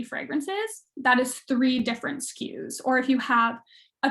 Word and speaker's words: SKU: moq minimum order quantity skew sku pronounced skew is a stock keeping